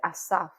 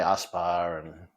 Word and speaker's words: Asaph: People couldn't pronounce the PH. And so how the Asaph? They'd say Aspar and all sorts of weird combinations in between.